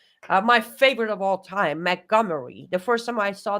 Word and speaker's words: Montgomery: you just call it I'm like montegomery he's like she's like it's Montgomery I'm like damn what is all of that doing in there so that was the